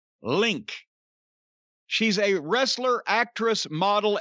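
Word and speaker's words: LinQ: Formerly of the group, and I don't know how this is pronounced, I think Link, but L-I-N capital Q, Link.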